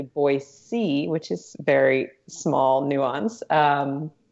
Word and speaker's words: Boise: you I'm not from Boise and there are two ways that people often pronounce it one is they'll say like Boise